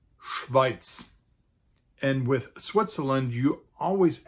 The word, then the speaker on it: Schweiz: Switzerland in German is actually called Schweiz.